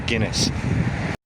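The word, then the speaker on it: Guînes: It's a little town called Guinée in French. If you're English, you might as well pronounce it as Guinness.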